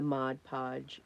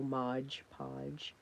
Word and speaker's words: Mod Podge: Just a coating of the Mod Podge and water. And please excuse I say Mod Podge wrong sometime. I go Modge Podge.